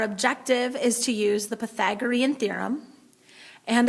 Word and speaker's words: Pythagorean: the Pythagorean theorem that's how that word is pronounced Pythagorean okay it is named after a mathematician who